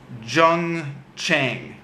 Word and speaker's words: Jung Chang: called Wild Swans by, I think this is pronounced Jung Chang, Jungchang.